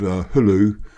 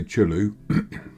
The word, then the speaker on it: Hulu: to chriso Chu similarly there's a village called Hulu which if you've just read it you'd say chulu and Holly we just